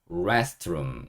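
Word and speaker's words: restroom: rest고 읽어 주시면 돼요 R EST rest 그다음에 ROM 여기는 room 그죠 그래서 붙여보면 rest 룸 완전히 합쳐서 restro 이렇게 하시면 되고요 어 알 소리는 혀를 좀 많으로 말아 주셔야 돼요 그래서 레가 아니고 rest고 제가 적어 놓은 거예요 혀를 말다 보면 rest이 소리보다는 rest 이렇게 소리가 나잖아요 그래서 restro 이렇게 해놨다고 보시면 되고 같이 읽어 보도록 하겠습니다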